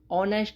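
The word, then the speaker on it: honest: ऑनेस्ट में H silent होता है। एच साइलेंट की वजह से इसको ऑनेस्ट बोलते हैं। ऑनेस्ट, ईमानदार।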